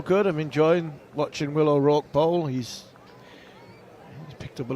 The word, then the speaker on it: O'Rourke: I've been saying O'Rourke. O'Rourke. It's O'Rourke.